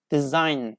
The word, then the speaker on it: design: of a syllable, so we don't pronounce J, just we pronounce N, design, align, n, foreign, sign, okay?